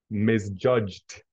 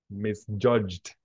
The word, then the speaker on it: misjudged: know so it's pronounced misjudged misjudged misjudged yes with with t in the end misjudged yeah correct